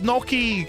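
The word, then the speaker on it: gnocchi: Andy, please try to pronounce Noki. It is Noki.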